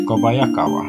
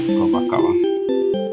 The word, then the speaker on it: Kobayakawa: Kobayakawa is Kobayakawa, not Kobakawa.